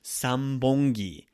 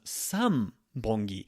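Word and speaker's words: 三本木: However, his last name was Sambongi, 3 trees counter. So san becomes Sambongi, and that's because of the B sound in there.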